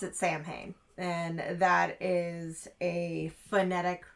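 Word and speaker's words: Samhain: First of all, they pronounce it samay and that is a phonetic pronunciation by an American.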